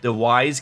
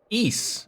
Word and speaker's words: Ys: It's pronounced like geese without the G. Ease.